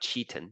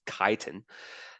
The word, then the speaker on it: chitin: Now there's one additional one called chitin. That's how you pronounce it, okay? Not chitin, it's chitin.